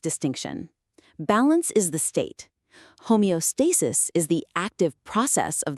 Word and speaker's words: homeostasis: And let's get the pronunciation right. It's homeostasis.